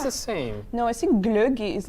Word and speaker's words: glögi: Or you can even try glögi to pronounce it.